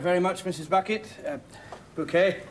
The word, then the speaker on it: Bucket: on the envelope it's bouquet b-u-c-k-e-t bouquet the accent on the second syllable ah this mrs bucket